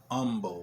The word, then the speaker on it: Humble: a town called uh it's spelt humble but they call it humble like they take the h off of it and they're very adamant